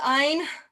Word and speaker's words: Ayn: I never got why anybody would want to read like Ayn Rand. It's pronounced Ein.